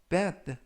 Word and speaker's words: bath: 이번 표현은 bad, bad, bad 라고 발음하시면 되겠고요. 이때 th는 번데기 발음 뜨.